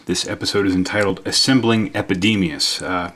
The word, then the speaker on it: Epidemius: 40K it is pronounced epidemius it's not epidermis or epidemis or anything else like that he is a special